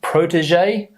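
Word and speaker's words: protégé: one here is prote Protegé okay prote be careful of this uh pronunciation here this sound the JJ prot J prot prot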